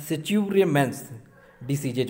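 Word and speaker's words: Scheuermann's disease: Okay, तो spelling में focus करें, लेकिन जो इसे सही तरह से पढ़ा जाएगा इसे पढ़ा जाएगा सिच्योरमेंस डिसीजेज।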